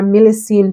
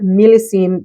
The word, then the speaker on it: Millésime: So I got a message on Mercari that someone had a bottle of Shalimar Millésime Tonka. I've been pronouncing it wrong and calling it Millésime.